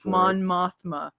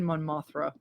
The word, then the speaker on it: Mon Mothma: yeah end on a great you know ending mon mothma sorry I said it wrong no he said mon Mothra Mama someone saying just remember ogp he he